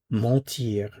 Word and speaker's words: ment: Notice the pronunciation. Ment, ment, ment. Je mens, tu mens, il ment.